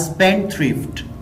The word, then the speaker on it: spendthrift: यहाँ पे डा साउंड जो है वो स्किप हो जाएगी, साइलेंट हो जाएगी, तो इसको हम इस तरह प्रोनाउंस करेंगे। He is a spendthrift.